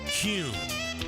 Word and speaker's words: Kuhn: And now, I'm going to share the absolute right way to pronounce Kuhn flowers. It's Kuhn.